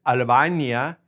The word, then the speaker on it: Albania: All right, now Albania is same in Spanish, pronounce it Albania, and their nationality is Albanese.